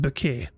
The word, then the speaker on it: Bucket: appearances but but yeah, her name is Bucket, but she pronounces it but because she she she wants to feel fancy, she pronounces it bouquet, even though her name is bucket.